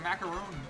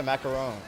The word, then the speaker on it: macaron: It's like a macaroon, I think. Is it? Huh? It's like the like French pastry pronounce it. Yeah. Macaron. Macaron. Okay.